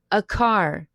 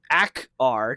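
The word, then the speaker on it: Akaar: It's like a car and then it's a rar depending on who's pronouncing it.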